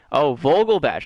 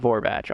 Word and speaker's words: Vogelbach: I think Vogelbach, not Vorbach. Oh, I've been saying his name wrong almost this entire time.